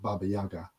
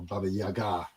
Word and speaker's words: Baba Yaga: There's also the story that's kind of most usually known as just Baba Yaga, or Baba Yaga, if we were going to be pronouncing it correctly, but it's kind of a pain in the ass to keep doing that.